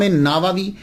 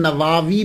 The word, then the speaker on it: نووی: گئی کہ امام نووی، اس کو نووی بھی بول سکتے ہیں، اور اس کا تلفظ پروننسیشن نواوی بھی ہے، یعنی وا کو لمبا بھی کریں گے، نواوی بھی اور نواوی، یہ دونوں جو ہیں وہ پڑھے جا سکتے ہیں۔ محرم الحرم میں آپ